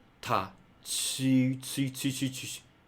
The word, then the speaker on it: ち: So just to become t, ta, chi, chi, chi, chi, chi. So why not just to pronounce chi? Okay, that's how the sound changed.